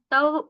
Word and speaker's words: तव: दर्शनात जिेंद्र तव दर्शनात तव दर्शनात नहीं है तव का संपूर्ण उच्चारण कीजिएगा श्रुति दोषी अध्यकर्माष्टक ज्वालम